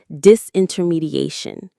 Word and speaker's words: disintermediation: is a process called disintermediation. This is a very advanced but very important business and technology term. Disintermediation. Disintermediation. It's another long one. The main stress is on that a syllable near the end.